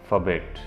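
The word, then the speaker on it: forbade: बट द लॉ ऑफ the jungle फबेट, इसका जो pronunciation होता है इस वर्ड का फबेट, और इसका मतलब होता है प्रतिबंधित, यानी मना करना।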